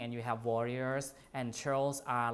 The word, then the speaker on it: churls: Churls are, this is like pronounced like a CH, churls.